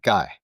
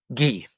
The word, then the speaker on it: Guy: don't know yeah so it's gee not guy ghee okay what's what's the origination of that French pronunciation okay okay